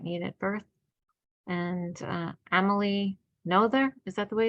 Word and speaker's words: Noether: And Amelie Noether, is that the way it's pronounced from? Noether. Noether, yes.